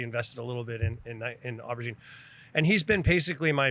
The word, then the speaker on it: aubergine: And over time, when the option came to purchase this restaurant nightclub, aubergine means eggplant in French, by the way, pronounced aubergine, but anyway, he really helped walk us through that sale, right?